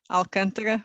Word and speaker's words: Alcântara: I can pronounce them: Cais do Sodré, Alcântara, Belém. This is the Portuguese way, of course.